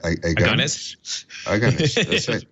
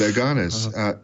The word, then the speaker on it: Agones: And so what is now I'm trying to remember how you said that Agones. Right. I'm still thinking agony because it's like that's kind of how it's spelled. Yeah, but Agones, how is Agones solving a problem that had previously been a trouble?